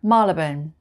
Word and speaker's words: Marylebone: four places are all in london number seven malibun malibun number eight hoban hoban i always just